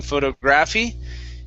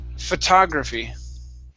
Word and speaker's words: photography: is okay the word so our stress is still going to be right here instead of saying photography it's photography photography very good and next